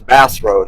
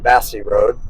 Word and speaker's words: Bassey Road: She says Bass Road instead of Bassey Road.